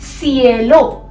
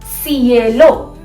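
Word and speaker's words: cielo: सी को कैसे प्रोनाउंस करते हैं हम? से या के, दो तरीके से हो सकता है सी, जैसे कि कासा, कासा, या फिर सिएलो, सिएलो।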